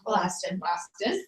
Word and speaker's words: elastin: yeah, Elastin. Always say it wrong. And I still can't get it right. Elastin. elastin. Like It a makes last you look younger. like a last stick with your skin.